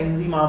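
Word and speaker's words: Inzamam: मेरी नाम की सही, इंजमाम, आई एन जेड ए एम ए एम, बहुत सारे लोग इंजीमाम लिख देते हैं, आई एन जेड आई एम ए एम, ठीक है, इंजी से उनको लगता है इंजीमाम होता होगा।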